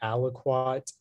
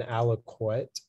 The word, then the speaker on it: aliquot: uh your word is aliquot could you repeat the word uh the word is aliquot um yeah uh the two pronunciations are aliquot and aliquite it's an adjective and